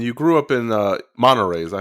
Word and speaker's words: Monterey: and and you grew up in uh monterey is that how you pronounce it monterey california yeah i'm uh that's where i was